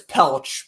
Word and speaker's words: Pelech: I'm pretty sure it's Pelech, but I keep on saying Pelech because that's how I pronounced it for like 2 years prior before I knew it was Adam Pelech.